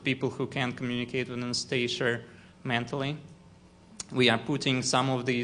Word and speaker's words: Anastasia: In Russian, it is pronounced with the stress on iya. Anastasia.